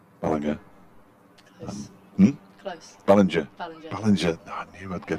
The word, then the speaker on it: Ballinger: Ballinger. No, I knew I'd get it right. I'm going to put it's a soft G. The soft G.